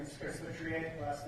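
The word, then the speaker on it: Feutrier: Hi, my name is Chris Vitrier. Last name is spelled F as in Frank, E-U, T as in Tom, R-I-E-R.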